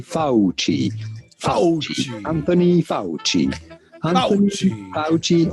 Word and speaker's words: Fauci: Fauci. Fauci. Yes, in Italian, the C is pronounced like CH. So say Fauci.